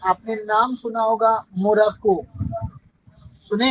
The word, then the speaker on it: Maroc: आपने नाम सुना होगा, मोरक्को, सुने हैं? Yes, yes, sir. उसको भी मस्कुलिन कंट्री के में रखा है फ्रेंच ग्रामर में। मोरक्को का स्पेलिंग लिखिए, MAROC, मारो। MAROC। और मारो, दिस इज मस्कुलिन कंट्री।